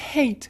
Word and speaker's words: hate: N'oublie pas les H en anglais sont importants. Donc là, je dis pas I hate, je dis I hate. Je prononce bien le H.